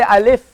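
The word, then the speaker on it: ألف: in Arabic language so we want to pronounce it as alif alif so maybe alif or if you pronounce if you see the i l if as it is in many books a l if then know it's alif if you say Al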